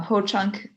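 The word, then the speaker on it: Hoocąk: uh soon language um ho chunk the reason why it's filled with two o's is because it's a long a long o um and i'll go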